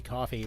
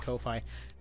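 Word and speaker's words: Ko-fi: I hear people pronounce it both ways. It's clearly supposed to be coffee but some people pronounce it Kofi.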